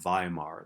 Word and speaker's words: Weimar: government in a city in western germany called weimar that's how you pronounce that word uh and instead of in